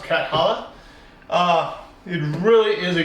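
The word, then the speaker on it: Cathala: who made it is Bruno calo catala how you better pronounced catalla uh it really is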